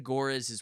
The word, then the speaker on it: Görres: and now you've dedicated yourself to translating Ida Görres' work. Did I pronounce her name correctly?